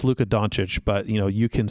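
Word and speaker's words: Luka Dončić: is it's Luca's best card and it's it's pronounced Luka doncic but you know you can sit here and butcher it all you want Don chicken what all I know is all I know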